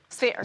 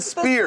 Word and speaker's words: sphere: Sphere. Spare. Oh, nice. Can you say it correctly, please? Sphere. Sphere. Sphere. Stop saying spear.